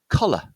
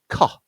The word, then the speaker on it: collar: And this is pronounced collar. Yeah, so we've got the stress point on the first syllable, collar.